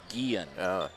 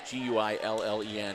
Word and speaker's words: Guillen: that even though it's g-u-i-l-l-e-n it's pronounced the Spanish so it's Guillen it's a double L's being a y sound Graber gets the free